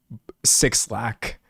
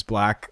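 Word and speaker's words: 6lack: There are a lot of people who call this artist Six Lack, which I understand, because if you just were to read it phonetically, it says Six Lack, but actually his name is Black, which I think is really funny.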